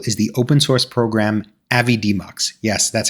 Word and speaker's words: Avidemux: this awesome tool is the open source program Avid demmo yes that's how you pronounce it and you can get it from